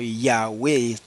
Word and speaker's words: Yahweh: pronunciar el nombre sagrado se pronunciaba ese nombre como yahwe Y no y y en el caso de Josué y del mesías se pronunciaba yoshua y no yehoshua ni yeshua bueno yeshua así porque